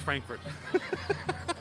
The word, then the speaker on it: Frankfort: of kentucky yeah you're right it's actually pronounced frankfurt the capital of kentucky is frankfort which is an awesome kind of city kind